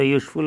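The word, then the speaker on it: useful: वैसे तो यूज़फुल होता है, हम लोग यूज़फुल बोलते हैं, तो य से शुरू हुआ इसलिए नहीं लगेगा।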